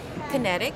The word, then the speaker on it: QinetiQ: all of that and that's kinetic that's spelled q i n e t IQ so uh in a